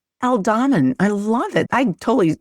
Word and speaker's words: Aldham: El Damon. Elamin.